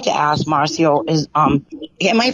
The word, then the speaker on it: Marcio: But I would like to ask I'd like to ask Marcio, am I pronouncing his name correctly? Yes, Marcio.